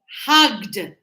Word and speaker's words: hugged: So we have stopped not stop it stopped hugged hugged. So this sound is t and this sound is d.